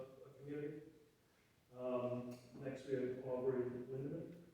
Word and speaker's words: Lindern: Next we have Aubrey Lindern. Lindern. It's a long hard. Sorry, Lindern. I was thinking of the chocolate. Yeah, that's it. I've heard it all.